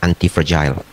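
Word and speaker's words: antifragile: sangat dhamma yaitu antiagile ya nulisnya anti fragile f r a g i l e pronounce-nya yang benar adalah antif fragile kalau bapak ibu kadang-kadang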